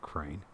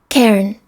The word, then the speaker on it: cairn: crane the c-a-i-r-n uh it's not crane this CERN I gotta find all this pronounce that because I don't know how to pronounce that I love it anyways I am who I am don't like it Ghosts no I'm not saying that I don't like it later but have patience with me please have patience pronunciation Karen Karen Karen pronounced like don't be a Karen Karen okay c-a-i-r-n so